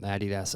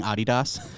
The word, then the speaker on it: adidas: appreciate your commitment to correctly pronouncing adidas which i feel like people listening are like what he's gonna do why is he doing this like european pronunciation about he does i'm like well that's actually the way it's supposed to be pronounced we just pronounce it adidas because we have forever yeah i think